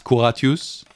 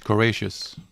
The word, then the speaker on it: Courageous: In French it's Couratius. In English, Courageous.